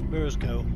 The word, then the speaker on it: Burscough: has Burrows cough discovered it's pronounced locally as bursco here's the horn